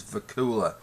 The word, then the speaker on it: Vacula: of disappointed to find out that it was Vakula I'm not one I'm not one to tell